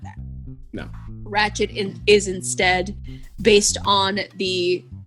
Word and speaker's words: Ratched: Netflix is premiering a new show called Ratched. You have to roll your tongue. Roll your R. Ratched. When you say it.